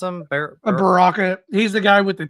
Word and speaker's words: Baraka: How do you pronounce him? Baraka.